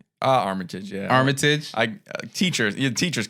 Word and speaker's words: Armitage: Armitage, yeah.